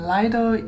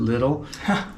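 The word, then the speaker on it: Lidl: our grocery shopping in liel in sopia sopia Bulgaria and we talk about Li all the time some of you pronounce it little but it's our favorite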